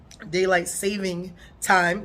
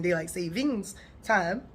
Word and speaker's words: daylight saving time: So ultimately, daylight saving time, which I learned we have been saying it wrong by saying daylight savings time, just like we normally do. We just add our own S to things just because it makes it sound better.